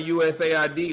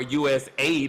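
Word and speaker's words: USAID: um even shutting down usid or us Aid as it should be called they want to they want to spell it out so you don't hear the word Aid shutting it down shut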